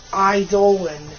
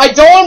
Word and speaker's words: Eidolon: Or kind of Eidolon. Spell I spelled like an eyeball, and Dolan, like Danger Dolan. And it's Dolan. Yeah, Eidolon will answer your life mysteries with truth.